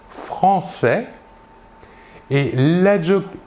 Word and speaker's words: française: Nous voyons ici la différence de prononciation. Nous prononçons le S final et nous ajoutons à l'écrit le E.